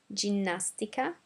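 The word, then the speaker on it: ginnastica: brand is mar now g g follow the same pattern as the c i c e so we had CH over here and now we're going to have g j and some examples are gymnastica gymnas sticks and gelato uh again following the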